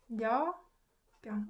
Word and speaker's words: 몇 병: too hard to guess because this is ut combined with p. So you can hear that there's more emphasis on p. So it becomes b sound. So 몇 병 is pronounced 몇 병.